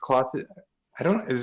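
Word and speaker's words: Klothys: Yeah, I actually pulled a cloth. Is it Clothis?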